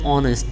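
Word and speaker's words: honest: vowel সাউন্ডের মত হয় অথবা কনসোনেন্ট লেটারটি যদি সাইলেন্ট থাকায় ভাওয়েলের মত উচ্চারিত হয় তবে এর পূর্বে এন বসে যেমন অ্যান অনেস্ট ম্যান আওয়ার ইয়ার দেখো এখানে সবগুলো কিন্তু এই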